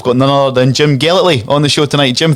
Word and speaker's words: Gellatly: radio legend we've got none other than jim gellatly on the show tonight jim thanks for joining